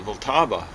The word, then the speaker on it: Vltava: The Vltava. Isn't that amazing how the Germans mispronounce Vltava?